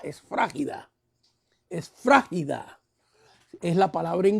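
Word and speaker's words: σφραγίδα: Sello en griego es la palabra esfragida, si lo quiere notar, o con acento en esfra, en la esfrágida.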